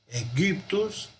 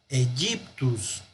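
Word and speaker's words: Aegyptus: Una opción es pronunciar Egyptus como si fuera una U, Egyptus. La otra es pronunciar Egyptus. Las dos serían válidas.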